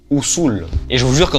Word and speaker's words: Usul: de Dune sauf que ça se prononce ousou et je vous jure